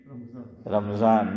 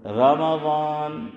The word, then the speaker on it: رمضان: رمضان، میم پہ کیا بولتے ہیں؟ جزم، اور رمضان ہے زبر۔ دلیل دوسرا پارہ سورہ بقرہ، شہر رمضان، میم پہ کیا آیا؟ زبر آیا نا، شہر رمضان، تو میم